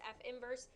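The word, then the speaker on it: f⁻¹: be your inverse notation this is pronounced f inverse but it is the f with the negative 1 superscript and then it is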